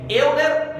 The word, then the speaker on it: Euler: Escreve Euler, mas pronuncia Euler.